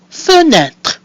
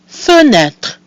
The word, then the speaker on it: fenêtre: So we have our mute E at the end of the syllable fe. We have E with an accent circumflexe, which is pronounced E, and another mute E at the end of the word, which is silent, giving us fenêtre.